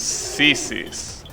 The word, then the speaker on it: CSIS: We have an equivalent CSIS, which is pronounced as sissies.